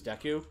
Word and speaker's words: Deku: a deku okay yeah i only learned maybe within the past 10 years that it was deku because i actually heard the japanese pronunciation of the word right because it is